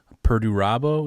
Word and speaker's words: Perdurabo: Um you wrote a book called Perduabo. Is that pronouncing it correctly?